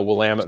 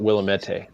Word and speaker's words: Willamette: grew up in the willamette valley a lot of people call it willamette you see like we'll admit you know and you're like no that's that's not correct at all yeah it's kind of